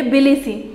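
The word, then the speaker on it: Tbilisi: यहाँ पर मैं फिर से आपको बताना चाहूँगी, स्पेलिंग है TBILISE, यहाँ पर T साइलेंट होगा, हम इसे प्रोनाउंशिएट करेंगे बिलिसी, और इसकी जो करेंसी है वो है लारी, LARI, लारी।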